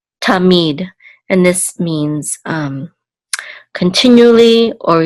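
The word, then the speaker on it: תָּמִיד: It's going to be on the last syllable, so this is mead, tamid, and this means continually or eternally.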